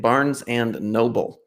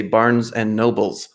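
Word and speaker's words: Barnes & Noble: uh i have to give you kudos for pronouncing it barnes and noble my one of my mom's the biggest pet peeve she worked there was when folks would say barnes and nobles oh no there's no man no but it's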